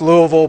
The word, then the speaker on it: Louisville: It's spelled Louisville, but it's pronounced Louisville by local folk.